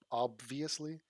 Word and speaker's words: obviously: before Did he say obviously? Could you? Maybe I'm saying it wrong my whole life. I don't pronounce the B in obviously. I treat it like it's not there.